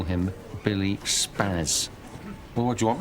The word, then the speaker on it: Spaz: Old German Jewish name. Yeah. Should really be pronounced Spaz.